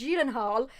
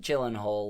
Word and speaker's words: Gyllenhaal: we've been saying and there's jelen hall and like jake he literally looked at him of like wide eyes and was like there's only one other time that's been pronounced correctly that was when i was in sweden that's insane yeah here